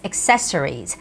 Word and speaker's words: accessories: alright beverages beverages or in Korean we say accessory accessory but English its accessories accessories so the stress has to go on the second syllable and very very difficult